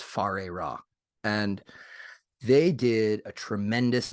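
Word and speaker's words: Whare Ra: Adept uh it looked it's written like where Rob I believe it's pronounced far a rock and they did a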